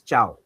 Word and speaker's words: ciao: So this is ciao.